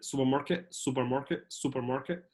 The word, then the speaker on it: supermarket: ينفع تقول سوبر ماركت، alright، بس باللهجه الامريكيه مش هتنطق التي، هتبقى زي همزه، فهتبقى سوبر ماركت. الار you're not gonna stress it، مش هتضغط على الار قد كده، اوكي.